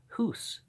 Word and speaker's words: Hus: goose stands for us because HUS pronounced hoose means goose and okay the goose